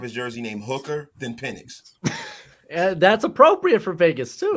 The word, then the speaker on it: Penix: Is it Pixon? Penix.